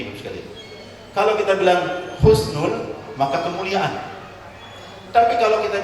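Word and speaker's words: حسن: Hati-hati dalam pengucapan husnul khotimah, ibu-ibu sekalian. Kalau kita menggunakan ha, sin, nun, husnul, asal katanya adalah dalam bahasa Arab hasana yuhsinu ahsin, kebaikan. Kalau kita ucapkan husnul pakai ho, sa, nun, ho, sin, nun, itu artinya kehinaan.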